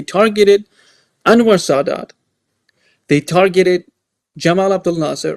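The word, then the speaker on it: Gamal Abdel Nasser: They targeted Jamal Abdul Nasser or Gamal Abdul Lassar as they pronounce it in Egypt.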